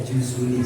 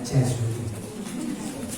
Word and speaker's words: Juzuli: Muhammad bin Sulaiman Al-Juzuli, bacanya Juzuli sebenarnya, tapi orang Jawa bacanya Jazuli. Sebenarnya yang benar bacanya Juzuli, tapi sudah salah kata sehingga bacanya Jazuli.